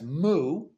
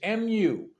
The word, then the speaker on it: Mu: Zen is M now a lot of people mispronounce it as Mo but it is Mu now you're given this